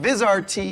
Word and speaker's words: Vizrt: best for last I've got Jeremy Morris from vizrt in to tell everybody how to pronounce vizr t did I do it right